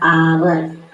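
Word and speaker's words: hour: पर देखिए कि यहां पर हम लोग इसका उच्चारण क्या हो रहा है आवर क्या हो रहा है आवर आवर हो रहा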